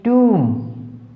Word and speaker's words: tomb: TOMB टूम, MB में यहाँ पर क्या है, बी साइलेंट है।